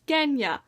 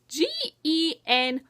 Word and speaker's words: Genya: But, then, oh, then there's Genya. I don't know how to pronounce her name. Genya. It's like Reina from Heroes of Olympus, except this is with a G.